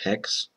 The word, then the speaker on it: Haxe: It's kind of weird how these uh hex libraries and stuff get get called these weird weird names. Like I I don't really know why h axe gets pronounced hex, but that's the official pronunciation guide.